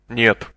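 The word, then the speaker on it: нет: for no neup neup the pronunciation of the Russian word for no or is similar like the English word yet but imagine that you're pronouncing it with an n in front of it listen and repeat how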